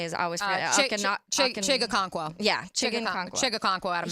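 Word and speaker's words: Chig Okonkwo: Chigakonkwo.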